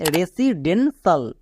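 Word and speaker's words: residential: next তাহলে বলতো এর উচ্চারণটা কি দাঁড়াবে এর উচ্চারণটা হবে রেসিডেন্সাল এবার এখানে দেখো সাল সাল সাউন্ডের জন্য টি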